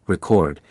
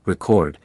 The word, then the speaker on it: record: When stressed on the first syllable, record, it is a noun meaning documentation or accomplishment. When the stress falls on the second syllable, record, it is a verb meaning to write down or register.